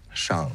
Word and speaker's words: Shang: Another funny thing is that Liu Simu was trying to correct Awkwafina's pronunciation in the movie. Shang-Chi. Shang.